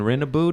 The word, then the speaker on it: Rennebu: My guest today is my extremely funny homie Rennebu. Did I say it right? Rennebu, of course, Fuck man.